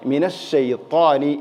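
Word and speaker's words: مِنَ الشَّيْطَانِ: അതിൻറെ സിഫത്ത് ശരിയല്ല മിനശൈത്താനി നാവിന്റെ നടു മേലെണ്ണാക്കിലേക്ക് ഉയർന്നു ചേർന്ന് നിൽക്കണം എന്നുള്ളതാണ് ത്വാ ഉച്ചരിക്കുമ്പോൾ പ്രത്യേകിച്ചും ശ്രദ്ധിക്കേണ്ടത് ഇത് എന്നൊരു സിഫത്ത് ഇൻഷാ അള്ളാ നമുക്ക് പിന്നീട് പഠിക്കാം മിനശൈത്താനി മിനശൈത്താനി എന്ന് തന്നെ ഉച്ചരിക്കണം ഇവിടെ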